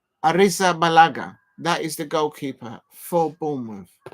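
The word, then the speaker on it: Arrizabalaga: the goalkeeper for buou AA AR Arisa balaga Arisa balaga Arisa balaga that's how you must pronounce the lad's name Arisa balaga that is the goalkeeper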